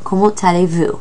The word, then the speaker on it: comment allez-vous: The word comment, you typically would not say that T at the end of it, but because the word aller starts with the letter A, you pronounce the T.